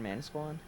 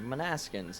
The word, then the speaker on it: Manasquan: up to the station Manasquan he mispronounced it like four different times guys I'm not joking you you said it like three different ways it was so funny he's like man askins next um - Quan and